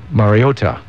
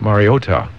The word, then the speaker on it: Mariota: Mariota. Fine. Mario. Ta. Ta. You got to get the ta there. Not Mario accent on the last syllab. Mariota.